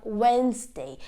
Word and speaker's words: Wednesday: is a silent D whenever D comes before the n and G the D becomes silent for example Bridge we also have budget we have Wednesday it's not budget it's